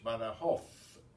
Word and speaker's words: Badajoz: by the host or in the Castilian Spanish Badajoz pronounced the Z as a th in theme but elsewhere is pronounced as an S but the horse is